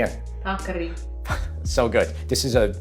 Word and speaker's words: paccheri: $1 million to anybody who can say this one, how it's pronounced. How you doing again? Paccheri. Paccheri? Say it again. Paccheri.